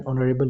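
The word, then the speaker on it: honorable: Here we have H. एच जो है हमारे पास साइलेंट है।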